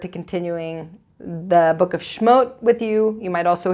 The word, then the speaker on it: Shmot: And I look very forward to continuing the book of Shmot with you. You might also hear it pronounced Shmos, just like sometimes you hear people say Shabbos, sometimes you hear people say Shabbat.